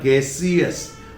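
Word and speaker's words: gaseous: अब यहां पे CS है, देखिए अब यहां पे शस नहीं है, क्योंकि यहां पर EOUS चाहे कहीं भी जुड़े, इसका प्रोनाउंसिएशन हमेशा ES होता है, एक आध एक्सेप्शन को छोड़कर, ठीक है।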